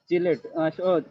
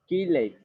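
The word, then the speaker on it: chelate: চিলেট, চিলেটের উচ্চারণটা আসলে কিলেট, কিন্তু আমরা সবাই চিলেটই বলি, ঠিক আছে?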